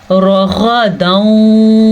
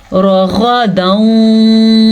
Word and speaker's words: رغدا: کیسے غنہ کرنا ہے۔ را کو پر پڑھنا ہے، غین کو بھی پر